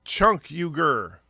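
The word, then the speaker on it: Cenk Uygur: 100 subs that's true it's pronounced chunk huger yeah that's why can't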